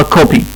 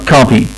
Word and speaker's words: copy: ففي كلمة نسخة البريتش بينطقوها او، لصوت الاو اللي موجود في الكلمة بينطقوه او قصير يعني، فبينطقوها كوبي كوبي. والامريكان بيستخدموا الصوت اللي موجود في كلمة arm بينطقوها كوبي. يبقى كوبي بريتش كوبي امريكان، الاثنين صح يا جماعة، مجرد اختلاف في اللهجة.